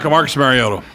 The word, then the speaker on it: Mariota: Marcus Mariota.